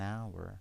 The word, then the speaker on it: hour: The H is silent, okay? In hour, so we say an hour, because it start with a vowel.